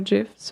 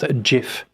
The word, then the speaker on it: GIF: to post gifts or gifts whatever yeah the uh author of the gif system says it's pronounced jif but i i say gif oh okay i always